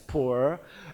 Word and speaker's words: Pu'er: The traditional Puer Tea, and they are Puer Tea in China, pronounced as Puer, and then from now on, Atomy Puer Tea